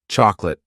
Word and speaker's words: chocolate: How many syllables are in this word? Two. Chocolate. Not chocolate.